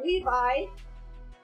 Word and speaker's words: Levie: But it's actually Levi, like the Levi jeans, so that's why I put that silly thing in there.